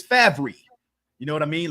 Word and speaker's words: Favre: Okay, it's not Favre, it's Favre.